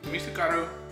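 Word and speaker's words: 미숫가루: Misukaru.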